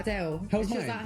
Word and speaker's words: Adele: This Adele likes her name pronounced as Adele, as opposed to how most people would say it, Adele.